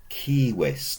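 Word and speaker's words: civis: example is the word kiwis notice a long I the first syllable kiwis now a kiwis is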